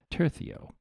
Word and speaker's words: tercio: The Spanish tercio, I hear you are supposed to pronounce it tercio, with a lisp.